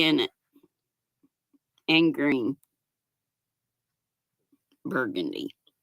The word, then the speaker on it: Burgundy: Burgundy. I like to say it like they say it in Nolens. One of the street signs says it looks like burgundy, but they pronounce it burgundy.